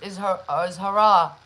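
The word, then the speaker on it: haram: So we know that really like dancehall and stuff is hara, hara.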